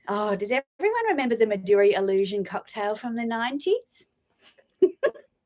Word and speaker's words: Midori: am going to sneeze in a second it's pronounced Midori yes I know it's Japanese for green Connor